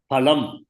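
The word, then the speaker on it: फलम्: In the case of Sanskrit, there's no fa. It is pronounced as pa. Phalam. Janma karma phala pradam. Karma phalam. It's not karma phal. See, Hindi, I think they say is phal, but Sanskrit is phal.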